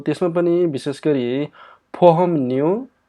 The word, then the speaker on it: 보험료: यसलाई फोहमन्यु भनेर चाहिँ हामीले चाहिँ उच्चारण गर्नुपर्छ है। फोहमर्यो होइन कि के भन्नुपर्छ त फोहमन्यु भन्नुपर्छ है।